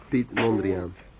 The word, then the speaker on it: Piet Mondrian: how do you say that Pete Miguel yes Piet Mondrian ah beats Mondrian Andre oh yeah this I'll